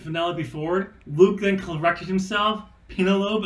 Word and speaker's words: Penelope Ford: First of all, I got to say, congratulations to Kip Sabian and Penelope Ford. You guys are getting married. That's awesome. You pronounced that wrong. It's Penelope Ford.